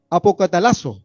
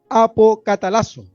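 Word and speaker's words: ἀποκαταλλάσσω: La palabra que utiliza acá es apocatalazo, se llama apocatalazo, con acento en la última A.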